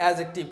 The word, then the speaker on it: adjective: Concept 3 एडजेक्टिव, ADJECTIVE, उच्चारण एडजेक्टिव, एडजेक्टिव यूज है, एडजेक्टिव नहीं है, डी इसमें साइलेंट है, इसका उच्चारण बनता है एडजेक्टिव।